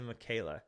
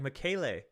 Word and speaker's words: Michele: In Italian, it is pronounced as, which sounds like Michela. Michele? With an emphasis on the second syllable. The. Michaela. Americans will turn it into Michaela.